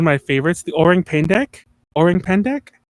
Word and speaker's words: Orang Pendek: Orang Pendek. Spell it. It's another like orange, but without the E. Pendek, Pendek.